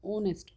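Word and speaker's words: honest: तो इसलिए यहां पे एन ऐसे ही ऑनेस्ट अब यहां पे एच जो है वो क्या होता है? साइलेंट होता है। तो ऑनेस्ट ओ की साउंड आती है।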